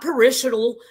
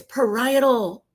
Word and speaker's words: parietal: Parietal. Not parishal, not perily, not parallel. It's parietal.